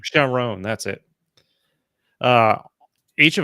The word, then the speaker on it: Chiron: how the how do you pronounce his name Chiron shiron Sharon that's it uh each of them were great